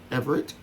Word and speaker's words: Everett: Everett, three syllables. Everett. Everett.